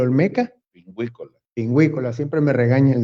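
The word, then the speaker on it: Pinguicula: También allí está la anemia tabascana y la pingüicula olmeca. Pingüícola. Pingüícola, siempre me regaña el doctor por Esta pronunciarla fue mal.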